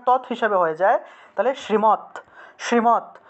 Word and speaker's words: শ্রীমদ্: হিসাবে হয়ে যায়, তাহলে শ্রীমৎ, শ্রীমৎ ভগবত, ঠিক আছে। ভগবদ না হয়ে প্রকৃত উচ্চারণ হলো ভগবত, ভগবত, ভগবত, ঠিক আছে, এটা প্রকৃত উচ্চারণ হলো ভগবত। আর শ্রীমদ না বলে শ্রীমৎ, শ্রীমৎ, এভাবে উচ্চারণ।